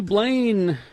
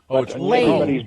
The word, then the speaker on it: Lane: uh let's go to blaine hello blaine good morning thanks for checking in with us what's up well i i just plain you could drop the bee lane butcher my name everybody's butchered my name for 60.